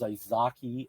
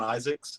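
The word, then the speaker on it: Izaakse: with um I know the last name is isaki uh Sean isak isak it's hey Bill it's actually just Sean Isaac's he's South African I've listened to him on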